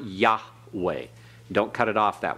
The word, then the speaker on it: Yahweh: title Yahweh all right you pronounce it Yahweh as you read it okay Tom Yahweh yeah